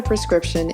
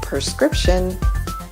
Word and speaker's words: prescription: While the common mispronunciation of this word is prescription, the correct pronunciation is prescription.